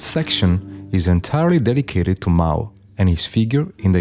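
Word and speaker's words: 猫: The word cat in Chinese is called Mao, with a pronunciation very similar to the name of the famous dictator.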